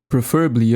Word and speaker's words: preferably: Preferably up armored. Falar essa palavra em 3 sílabas.